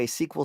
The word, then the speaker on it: SQL: And that's how you say it, SQL server, structured query language server.